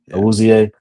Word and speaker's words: Awuzie: two, Washington, Alexander, Humphrey, Wiggins, what is it, Abuze? I don't know how to say his Yeah, name. Woozy. Yeah. Awuzie.